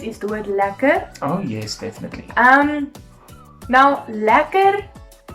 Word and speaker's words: lekker: But the way we say it to make it slang, it's spelled slightly different at the end, and we say it without the R then, it says lekker.